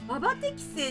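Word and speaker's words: 馬適性: あ、ババって読むんだ、これ。ああ、なるほどね。うわ、場所だと思ってた。バ適正って読むんだ。うわ、見てよかった。バ適正って言うんだって。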